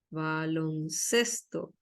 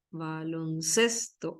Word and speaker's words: baloncesto: en realidad baloncesto baloncesto es una palabra llana también baloncesto acá se carga la voz baloncesto es una palabra